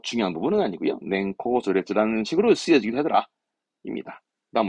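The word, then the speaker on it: 年功序列: 그래서 냉코조레츠, 냉코조레츠 하는데요. 들어보셨죠? 연공서열. 연공서열제를 뭐 옛날에 많이 얘기했죠. 뭐 그러니까 나이와 어떠한 뭡니까 근무 연차에 따라서 이제 승진하고 그렇게 되는 뭐 서열 얘기합니다만은 뭐 중요한 부분은 아니고요. 냉코조레츠라는 식으로 쓰여지기도 하더라.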